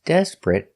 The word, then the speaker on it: desperate: 2 syllables. The stress is on the first syllable. Desperate. Not 3 syllables, desperate, but 2 syllables. Desperate. And the T at the end is a stop T.